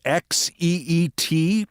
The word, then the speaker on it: Xeet: the tweet with the XEET, presumably pronounced sheet, as in, I sent that out on social media, I just took a sheet.